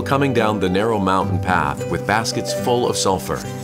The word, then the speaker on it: path: 여기서 주의할 것은 네, 여러분, path 하실 때 TH 사운드 입모양 잡아주시면 돼요. path, pass 아니고 path.